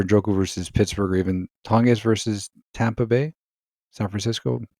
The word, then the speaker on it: Tonges: like Taylor versus Denver, Njoku versus Pittsburgh, even Tonges versus Denver. Taylor versus Denver, Njoku versus Pittsburgh, or even Tonges versus Tampa Bay, San Francisco tight end. Can't pronounce Jake his last name. Tonges, yeah. Tonges, that's it.